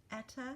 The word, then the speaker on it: eta: Also note that we check the N squared box which is actually pronounced eta squared.